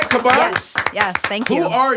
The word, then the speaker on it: Caban: Am I saying it right, Caban?